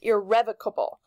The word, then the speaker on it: irrevocable: or revoked called back so even though it has revoked as a root word for this word it is going to be pronounced irrevocable so if something is